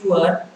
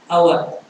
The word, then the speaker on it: hour: In the third sentence, an is before our because the letter H is silent. H is silent. We do not say our, we say our. So OUR. So although it is HOUR, when you read, when we say like this, hour.